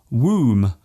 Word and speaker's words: womb: at all for example the be in qom womb and bomb there is only one better change between these words yet they are pronounced differently other words containing silent